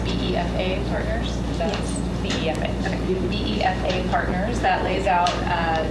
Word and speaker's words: BEFA: the execution of anou with I Is it pronounced BEFA partners? That's BFA. Okay. BEFA partners that lays out uh terms for a partnership in which strategic HFC would serve as general partner.